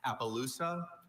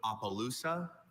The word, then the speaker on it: Appaloosa: Appaloosa. Also, Appaloosa.